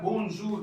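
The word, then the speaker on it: bonjour: इसके बाद है ओ एन ए एन, ओ एन ए एन, इसको प्रोनाउंस करते हैं ओ। तो यहाँ पर जो शब्द है वो है बोनजूर, जो मैंने ऊपर लिखा बी ओ एन जे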